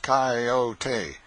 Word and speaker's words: coyote: remember rightly this latter was the regular coyote pronounced coyote of the farther deserts and if it was